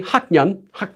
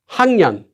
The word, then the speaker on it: 학년: Here too, you can't say 학년. It's really hard to say. So it becomes 학년.